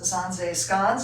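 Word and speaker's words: Zaanse: the village of zanzeskans zanze is how that's pronounced and it is a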